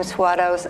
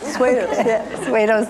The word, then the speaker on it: Swados: suos and I'm sorry I always pronounced your name swados I didn't realize you did it right did I do it right suos now all right well